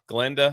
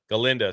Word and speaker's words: Galinda: This is the uh Glenda. Is that how you say her name? Galinda.